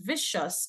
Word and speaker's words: vicious: The word vicious is spelled incorrectly. The word should be V-I-C-I-O-U-S, not V-I-S. Okay, in this case, the C is making the soft S sound.